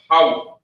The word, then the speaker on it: Yahweh: So we got the Most High's name, which is pronounced Yahweh. Not Yahweh, not Yahoo, not Yoah.